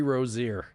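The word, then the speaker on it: Rozier: Terry Rosier all theing of all the historical quirks aka he says Rosier as they pronounced his last name during the presser yesterday.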